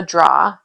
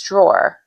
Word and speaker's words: drawer: So, you can't say draw. Go into the top drawer or go into your drawer. We say it, but it's drawer.